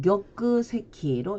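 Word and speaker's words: 玉石: 일본어 발음을 볼까요? 자, 옥석 그러면 격그세키로 읽어주고 옥좌일 때는 격그자로 읽어줍니다.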